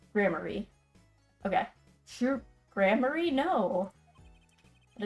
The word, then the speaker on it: Gramarye: Okay, so it is pronounced Grammary.